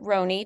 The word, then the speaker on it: Roney: that too and um her name is Bridget Roney did I say your last name right yep